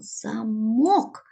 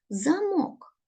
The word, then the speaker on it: замок: це таке тут написано замок звертаємо увагу на наголос це дуже важливо замок а тут маємо картинку